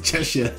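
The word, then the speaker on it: Cheshire: hard to pronounce look it's spelled Chesire ches but they pronounce it chesa I don't know how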